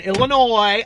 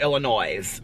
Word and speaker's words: Illinois: just like there's no you don't pronounce the s in illinois okay it's not illinois that drives me crazy okay when people are like oh we're thinking about taking a trip over to illinois okay you don't say